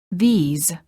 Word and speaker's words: these: The word this is singular and is pronounced with the short I sound and a s. The word these is plural and is pronounced with a long vowel E and a z sound.